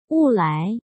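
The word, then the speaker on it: 勿来: あ、ちなみにこれはなこそって読みます。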